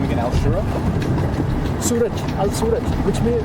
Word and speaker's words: Suraj: Suraj, Al-Suraj, which means... How do you spell it?